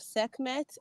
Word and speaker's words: Sekhmet: Is it Skemet? How do you say that? How's the title of your new book? I just posted the Blood of Sekhmet up for a pre-order.